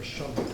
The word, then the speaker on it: Shumlin: It was Governor Shumlin. It rhymes with shush.